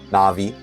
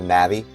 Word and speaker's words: Navi: names and different things na'vi right instead of Navi some people say Navi I say na'vi some people sayu I sayu right so I I base it off of the the Japanese pronunciation I guess you've always